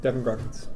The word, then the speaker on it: Devon Grodkiewicz: Is that correct pronounced? Yeah. Yep, Devon Grodkiewicz.